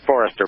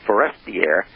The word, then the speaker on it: Forestier: And according to René Le Forestier, let me pronounce this right, Le Forestier, T-I-E-R, not Forrester, but Forestier, in his book, this